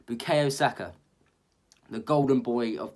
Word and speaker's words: Bukayo: And then started at left wing back was Bukayo. That's just not how you say his name, is it? Bukayo Saka, the golden boy of this club.